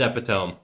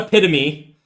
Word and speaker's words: epitome: you you're wrong okay it's epitome it's not epitome okay these are two